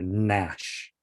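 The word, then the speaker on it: gnash: you say no, Nat, gnarly or nash.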